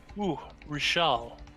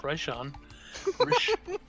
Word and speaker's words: Rishal: My name is Rishal. Not Raishan. Rishal.